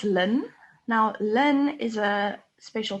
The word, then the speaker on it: ln: that's an owl um we actually pronounced this lin now len is a